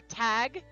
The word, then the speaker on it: Tadgh: For Tag, it just says absolutely no idea because it's spelt Tadgh.